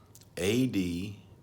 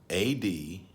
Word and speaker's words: advocate: A-D-V-O-C-A-T-E. A-D-V-O-C-A-T-E. Did you have advocate or advocate? One is the noun, one is the verb.